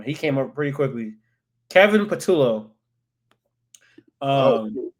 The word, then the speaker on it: Kevin Patullo: I need to see how to pronounce it. Damn, he came up pretty quickly. Kevin Patullo.